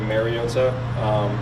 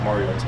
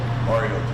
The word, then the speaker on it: Mariota: Collinsworth and Tirico kept saying Mariota. Is that actually the right pronunciation? Like, what is the right pronunciation? Mariota. I think it's been said over the years like Mariota, which is incorrect, and it's pronounced Mariota.